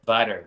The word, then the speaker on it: Vidor: you're originally from the is it pronounced VOR or is it Vidor area Vier Vier and that's just outside